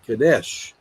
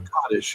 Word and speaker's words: Kadesh: And there's a famous battle called Kadesh, or Kaddish, according to how you say it, that between Egypt and the Hittites.